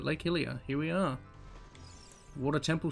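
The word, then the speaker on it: Lake Hylia: scare we butchered it Lake Helia I'm going to keep calling it Lake hyro but Lake hilia here we are water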